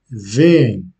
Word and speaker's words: veem: Mais à l'oral, l'accentuation est faite quand même. Donc, on prononce vem.